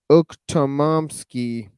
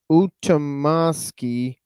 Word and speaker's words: Ukhtomsky: Truth, was Prince Esper Ukhtomsky, 1861 to 1921, a theosophist. Ukhtomsky, motherfuckers. Ukhtomsky. And that's spelled Ukhtomskii. Ukhtomsky.